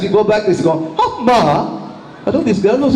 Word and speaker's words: amma: Now, there are two syllables. A, ma. Am I right? You don't raise one and lower another. You don't stress one and leave another unstressed. A, ma.